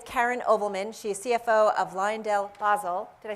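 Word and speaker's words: LyondellBasell: to him is karen ovelman she's cfo of liondell basel did i say it correctly i lined elbazel bizzell i keep practicing and i get it wrong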